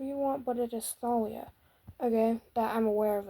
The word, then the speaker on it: Thalia: Yes, it is pronounced Thalia, not Talia, people.